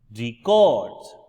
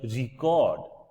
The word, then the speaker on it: record: So, when I say that I wanted a record for my use, I am focusing on the first syllable, and when we say that I want to record somebody on air, I am recording myself over here, I can say the stress is on the second syllable, which is the word verb.